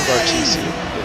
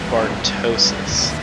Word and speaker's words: Bartosis: You're pronouncing Bartusi. It's pronounced Bartosis. Ah.